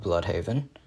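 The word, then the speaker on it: Blüdhaven: a different part of bloodhaven i actually think it's pronounced bloodhaven uh because of the double dots above the u but um uh he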